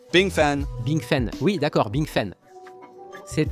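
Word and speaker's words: 冰粉: On le prononce Bing Far, mais vous le prononcez Bing Feng. Bing Fan. Bing Fen, oui d'accord, Bing Fen.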